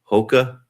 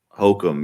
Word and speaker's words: Hokum: I'm going to go with the, I can't even remember how to pronounce the name. Hoka? Is that it? Hokum, yeah.